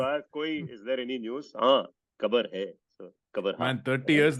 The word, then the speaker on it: Gqeberha: Kabarha. Tell spelling. GQEBERHA. Gqeberha. Hey, we have to invent sounds for this, I think. Bro. Bile. No, The- if you ask, is there any news? Kabar hai.